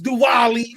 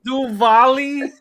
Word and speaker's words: Diwali: so yo first off is diwali you said it wrong do volley you know second off